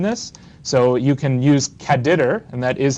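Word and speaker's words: caddr: functions that combine this so you can use caditor and that is how it's pronounced and all that it is is there's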